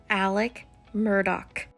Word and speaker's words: Murdaugh: have said this earlier it's Alec Murdock Alec Murdock I don't even like to